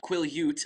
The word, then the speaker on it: Quileute: too perfectly set up I finally got the pronunciation of the reservation that the blacks live on quileute I always said quill let when I was reading